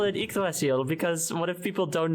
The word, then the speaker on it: Yggdrasil: It is like Yggdrasil. Oh, there it is. Is that how you pronounce it? Yggdrasil, yeah.